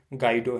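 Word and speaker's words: Guido: 1991 में हमारे जूडियो भाई, मैं जूडियो बोलता हूँ, वैसे बेसिकली ये गाइडो है, ठीक है, गाइडो वैन। मुझे जूडियो से वैसे रिलेट करता हूँ तो मैं जूडियो बोल देता हूँ, बाकी अपना प्रोनाउंसिएशन और ये गाइडो को जूडियो बोलो, ज़्यादा बेटर होगा ताकि समझ पाओगे।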